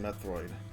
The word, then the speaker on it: Metroid: of a an actual tea it's a actually pronounced methroid in chozo it's not actually uh Metroid it's